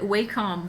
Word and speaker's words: Wacom: I always said it Wacom, but then like I heard that it's actually pronounced Wacom. Like if you call their customer support, they're like, "Thank you for calling Wacom."